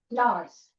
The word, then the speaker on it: Norse: It is pronounced as Norse. Naws.